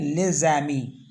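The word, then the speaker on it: les amis: इसको ऐसे पढ़ते हैं लेज़ैमी। एस और ए को मिला के जै पढ़ते हैं, तो लेज़ैमी हो गया द फ्रेंड्स।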